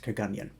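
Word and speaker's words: Kirkgunzeon: Now, if you're reading the comments, it does look like it's Kirkgunzion, but it is pronounced Kagunyan, and which is also in southwest Scotland, a few miles from here.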